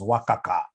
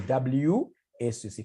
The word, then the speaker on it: WACC: There is somebody who pronounced this as Wakaka. Wakaka, no. It's supposed to be WACC.